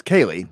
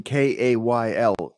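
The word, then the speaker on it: Ceili: well but it's spelled even though it's Kaylee which you think would be k-a-y-l-e-e it is c-e-i-l-i so Kaylee McCabe is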